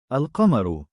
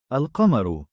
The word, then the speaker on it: القمر: al-qamar, meaning the moon, in which the al is pronounced clearly with the definite noun. القمر القمر الكلب الكلب الباب الباب.